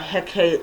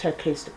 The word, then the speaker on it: Hecate: um i think tomorrow's haircast yeah tomorrow it is tomorrow's hecate's um diportum i always mispronounce it um and it's time to honor the goddess hecate oricati and so i have